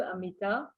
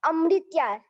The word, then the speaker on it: Amritya: nice to meet you, Amita. No, not Amrita. It's Amritya.